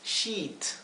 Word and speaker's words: sheet: La palabra para sábana es sheet. Y es una palabra engañosa porque si no pronuncian esto bien, sheet, con una I, como si fuera una I larga, sheet.